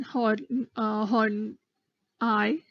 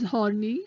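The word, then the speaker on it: Horney: called Jung addler Karen hard-on I please don't pronounce it as horny which is that's not the correct pronunciation it's on I and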